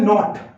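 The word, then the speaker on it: naught: ये जो लिखा है इसकी प्रोनाउंसिएशन है नॉट, तो इसको एप्सिलॉन नॉट बोलते हैं।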